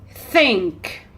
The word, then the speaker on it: think: think truth truth so how do you pronounce the first sound the first th sounds you put your tongue here in blow do it again now put your hands here yeah on your throat and try again again do you feel any vibration no there's no vibration because there is sound but no voice the vocal cords don't vibrate okay so let's pronounce